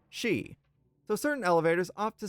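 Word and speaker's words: し: The number four and the word death share the same pronunciation of she.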